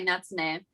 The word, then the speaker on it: Natsune: Today we have Natsune, I believe, if I'm pronouncing that right. I actually go by Natsune, but close enough.